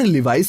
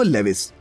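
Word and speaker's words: Levi's: जी हाँ, जैसे कि अधिकतर लोग नाइकी को नाइक कहते हैं और लिवाइस को लेविस।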